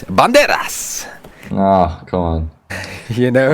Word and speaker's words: Banderas: But you have to take care of how you pronounce Banderas. It's Banderas!